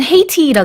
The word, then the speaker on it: Haiti: 영어에서는 Haiti라 그러죠. Yes, that's 네, right. H 발음을 해주고요. 그다음에 가운데 모음도 우리랑 좀 발음을 다르게 합니다.